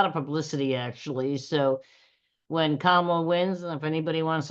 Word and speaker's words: Kamala: One, because I wanted to remember the pronunciation, like to be calm, so Kamala.